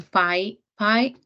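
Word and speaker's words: PyPI: are available available for from Phi pi which is spelled like this from PI which is the python package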